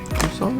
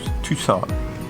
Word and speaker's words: Tucson: Tucson is how you say it? Yeah. Tucson, which is like 2-hour flight to the west,